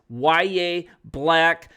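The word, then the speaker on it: Yahya Black: I mean, yes, it's pronounced YA Black.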